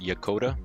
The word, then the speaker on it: Yokota: I think it's pronounced Yokota. I don't want to lead you the wrong way. Yokota?